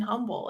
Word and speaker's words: Humble: there's no h in Humble it's humble well it's the H is silent we're the exact opposite